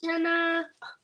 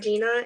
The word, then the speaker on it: Jenna: me last night that your name is pronounced Jenna and not Gina and I can't believe I was pronouncing it Gina the whole time it makes way more sense to be Jenna okay so you see